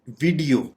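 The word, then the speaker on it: video: वीडियो, वीडियो आमतौर पे इस लफ्ज को बोला जाता है वीडियो, यानी हमारा एम्फेसिस वी और आई के बाद इसको हम खींचते हैं, जबकि ये गलत तरीकाकार होगा। इसको प्रोनाउंस करने का करेक्ट तरीका ये है कि आप वीडियो, यानी आप ई के ऊपर चूंकि ये एक आप डैश देख रहे हैं, तो आपने इसको थोड़ा खींचना है।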